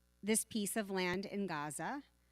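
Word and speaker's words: עזה: piece of land in Gaza or as Brock likes to remind me properly pronounced Aza and they evacuated or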